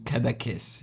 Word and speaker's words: Cadaqués: Yes, je suis heureux d'avoir réussi à prononcer le terme correctement parce que franchement, je n'étais pas sûr. Ça se lit Cadaqués.